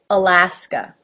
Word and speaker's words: Alaska: can see my mouth goes ala Bama alabama alaska again there's 3 a's and the middle one